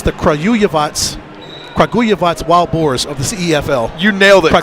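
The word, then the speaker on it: Kragujevac: so i got it it's the crow yavats kaguyavats wild boars of the cefl you nailed it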